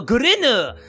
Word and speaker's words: Gurinu: Okay, so it's pronounced in like a stereotypical Japanese accent. So, Gurinu!